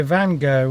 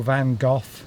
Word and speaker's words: Van Gogh: So Van Gogh or Van Gogh, depending on Van Gogh, there's various ways that people pronounce that word in the UK.